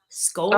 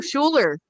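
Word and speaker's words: Schouler: Proenza Scholar? Oh, Schuler. Schuler? Yeah. Yeah.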